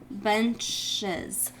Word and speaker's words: benches: So bench becomes benches. And remember, instead of just the S sound at the end, it sounds more like is.